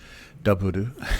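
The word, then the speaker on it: ダブル: It's double, so half of the daburu is what you're saying, and they don't say W, they daburu, and that's double.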